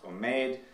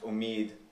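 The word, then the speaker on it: امید: Persian and U pronunciation so words like um that would have been pronounced omade um come to be pronounced Omid also in U also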